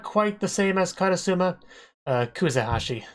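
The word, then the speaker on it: Kuzehashi: But the big thing with this episode was actually Kazahashi, the teacher, because she's, like, not quite the same as Katasuma. Kuzahashi. I don't think I said it right before.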